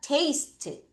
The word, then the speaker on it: taste: A가 A 발음 따라하세요. taste, taste.